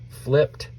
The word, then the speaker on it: flipped: case we've got flip it sounds like a t even though there's no T there um we know that when you hear that T at the end of a word often times it is Ed not always but